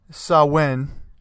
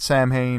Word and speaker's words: Samhain: That's how you say it, Samhain, not Samhain or anything like that.